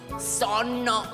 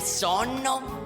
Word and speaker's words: sonno: Adesso se devi dire per esempio sonno, solla, si pronuncia con due N, sonno e solla.